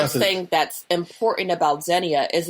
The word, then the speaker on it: xenia: Zenia. Yes. Zenia. If I'm saying it right, it's X E N I A. I'm saying Zenya.